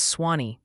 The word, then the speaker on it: Sewanee: Apparently it's Swanee for Sewanee, and your Louisville neighborhood names like Buccal and Okolona need refinement.